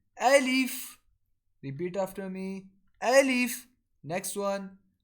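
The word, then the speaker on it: ألف: will be called a leaf repeat after me alif next one so the method of pronouncing ba is when our upper lip and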